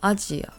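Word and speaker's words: アジア: Chinese we pronounce this as in Japanese we pronounce this as ajia next we have Yen which is the Japanese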